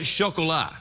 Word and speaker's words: Chocolat: Anything except the Rum Diaries and chocolat. Oh, how do you pronounce that? What? How do you say that word? Chocolat. It's a French word for chocolate.